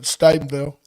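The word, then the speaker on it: Stephenville: They pronounce it Stenville.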